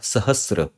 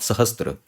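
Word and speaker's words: सहस्र: Nama but remember this is S Plus ra sahra not sahastra similarly not okay so just a few point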